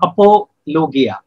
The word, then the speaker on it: apologia: Actually, this word apologetics comes from the Greek word apologia or apologia, correct pronunciation.